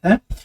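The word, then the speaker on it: ث: J'avais dit que pour la prononcer de manière isolée, il fallait en fait mettre la langue entre les deux dents et la sortir légèrement. Tha, tha, tha.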